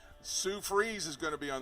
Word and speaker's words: Fries: So check your local listings for the Sue Freeze Show. It's spelled like fries, F-R-I-E-S.